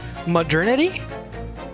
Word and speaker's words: modernity: Modernity. Modernity. Modernity. Modernity. Modernity. Modernity. Like eternity. But modernity. You don't pronounce modern. You pronounce it modern. Modernity.